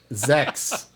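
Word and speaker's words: sechs: Zex is how it's said in German.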